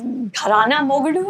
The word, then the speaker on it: Gharana Mogadu: I mean, I read that in 1992, and the film was Gharana Mogadu. Am I pronouncing it Yeah, correct?